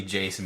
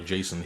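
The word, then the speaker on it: J'son: who the hell knows basically Jason but with a weird pronunciation Yeah. There's no A in it. Yeah. Um J accent and then J apostrophe S O N.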